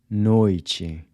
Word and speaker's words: noite: Noite. So the “t-e” is pronounced like the “c-h” in chip.